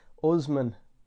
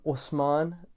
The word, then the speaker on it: Osman: pronunciation right it's like how do i pronounce that usman this is what i was called in schools um osman or osman this is the pronunciation and it just never felt like me never felt and so if i would pronounce my name osman it's you know i'm